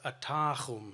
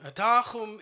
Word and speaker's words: atahum: The only word was atahum, atahum. Atahum, you guys should say this. It means the people in our language, atahum.